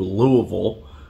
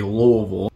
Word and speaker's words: Louisville: from our city to Louisville. That's how we pronounce it here in Kentucky, Louisville. You might say Louisville. Louisville, that would make you a normal person. But us Kentuckians, we say Louisville.